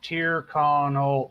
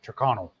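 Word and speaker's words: Tyrconnell: yeah you've got a a lot of americans drag it out they're like tear con old no to connell that's it that's it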